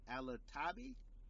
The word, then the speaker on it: Alotaibi: Alotaibi?